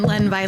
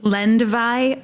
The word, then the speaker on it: Lendvai: It's Lenvi. Lynn Vi. Almost like lin men. I always I tell my students it's lend vi rhymes with pi.